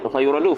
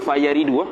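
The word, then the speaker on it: فَيَرِدُ: Bukan fayuradu, fayaridu. Dia punya baris beza.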